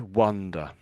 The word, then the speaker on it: wonder: So, how how would you pronounce this one? Is it wonder or wonder? Um, here it's wonder.